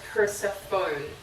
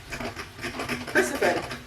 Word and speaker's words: Persephone: Most people call her Persephone, as in phone. That's cute. Persephone, I think.